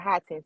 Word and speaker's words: Hodgson: That's how you pronounce it, Hodgson.